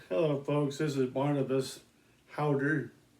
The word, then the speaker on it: Häuter: This is Barnabas Häuter spelled and it's H A U T E R, but it's pronounced like H O W D E R.